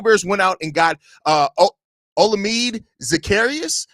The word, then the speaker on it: Olamide Zaccheaus: The Chicago Bears went out and got Olamide Zaccheaus, I believe is how you pronounce his name, a 5'8", 193 wide receiver who played last year with the Washington Commanders.